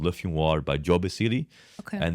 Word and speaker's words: Le Fumoir: That's how you pronounce it then. Say that again. Le Fumoir.